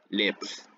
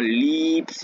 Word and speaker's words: leaps: y nos enseñan que esta palabra tiene un sonido corto debemos pronunciarla de manera corta en este caso leaps no lips y no lips como